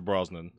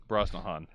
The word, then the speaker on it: Brosnahan: Mazal i am also going with Rachel Brosnan you said it wrong Brosnahan doesn't count if you